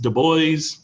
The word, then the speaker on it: Du Bois: Remember, it's even though it looks like Du Bois, it's pronounced Du Bois.